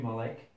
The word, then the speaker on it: Malek: my mind M Terry mik I'm guessing I'm pronouncing your name right right that's right Malik Mal okay Malik Mr